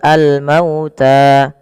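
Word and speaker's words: الْمَوْتَىٰ: Di sini mauta sebelumnya di lafal mau yaitu ada bacaan lin yaitu lembut di dalam pelafalannya karena ee ada huruf wau sukun didahului dengan huruf fathah maka dia lembut dalam pelafalannya. Kemudian pada lafal ta di sini kita baca dengan mad thai. Panjangnya dua harakat maka harus dipanjangkan dulu dua harakat.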